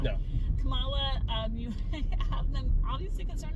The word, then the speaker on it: Kamala: I'm wanting to pronounce it like the vice president, but it's not. No. Kamala, you have them obviously concerned about them, but also super supportive and super understanding.